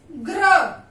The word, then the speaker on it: ग्र: ऐसे ही जैसे हम लिखेंगे ग आधा धन र, तो क्या बन गया, ग्र। ग्र, ग का उच्चारण आधा आ रहा है, जोर पड़ रहा है ग पे, उच्चारण करते हुए देखिए ग्र।